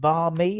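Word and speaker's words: bánh mì: So a bar is it bar me? That's how you pronounce it.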